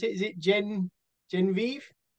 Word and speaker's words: Genevieve: How do you pronounce it? Is it Genevieve? Genevieve. Genevieve.